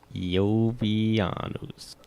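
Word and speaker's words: Iovianus: Did you say Jovianus. Jovianus? Yeah, Jovianus. or Jovi. Jovianus? If you want to pronounce it, Jovianus?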